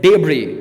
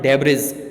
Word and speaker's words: debris: shows that and debris you will have to pronounce the word as debris not Deborah's debris I have written it you know -